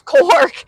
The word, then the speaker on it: Korg: I thought that was just you mispronouncing Torg. No, it's Korg. Korg and Torg are separate events.